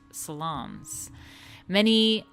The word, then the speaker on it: salon: sensual intimacy in elegant salons. I'm saying that right? It's a salon, not saloon, because there's only one O.